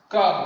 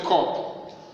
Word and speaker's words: cap: Cap, that is the pronunciation. Cap. So you don't say cup. Cup. It's cap.